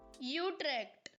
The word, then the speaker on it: Utrecht: replacement for being worldly give me a dutch guy saying you trek for god's sake how do you say it i know it's not bad utrecht that's it that's the one that's the official pronunciation sorry netherlands i'm gonna